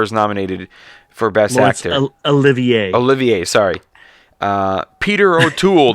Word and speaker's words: Olivier: yeah i never seen that same movie lawrence oliver is nominated for best actor olivier olivier sorry uh peter o'toole the ruling class